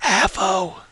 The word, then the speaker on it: Avo: It's pronounced Avo.